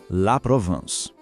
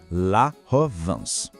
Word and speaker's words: la Provence: A pronúncia certa é La Provence. A sílaba van não soa como em vento. É um som que sai mais pelo nariz. Tenta pensar no som de van. Fica assim, La Provence.